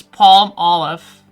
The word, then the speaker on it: palm olive: Because I know how I pronounce it, and I know how it is, or at least how I think you should pronounce it. But, yeah. How I would say this is Palmolive, right? Palmolive. But if you actually look at it, it's palm olive. It's not palm olive, it's palm olive. Apparently that's how you pronounce it in like English.